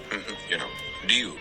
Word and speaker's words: Ryu: listen to an example, I don't think anybody would think of pronouncing R-Y-U as Ryu. They would always say Ryu. Because that's the way it would be pronounced.